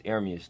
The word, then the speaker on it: Ermias: My real name, it means God will rise. It's Ermias, though. That's how you say it.